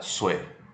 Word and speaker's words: Sui: de história da China a dinastia Su está escrito sui Ah mas a pronúncia mais diz su vai ser um breve